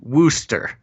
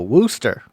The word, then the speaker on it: Worcester: the chat is that it's pronounced Wooster. Oh, Wooster. Yeah, it looks like some people actually know more than I do about places I've never been or heard of. Worcester, Wooster. Okay.